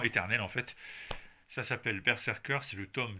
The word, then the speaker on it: BRZRKR: indestructible et quasiment éternel en fait ça s'appelle perer cur c'est le tome 2 ou bien ça se prononce mais dans ce cas-là si vous le